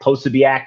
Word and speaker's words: Posobiec: Jack Posobiec. I don't know that's how you pronounce his name. Yeah, Posobiec. Yeah.